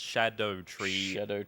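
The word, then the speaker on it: Scadutree: some Erdtree fragments, but I'm told it's pronounced Shadow Tree, even though it's not spelled like that at all.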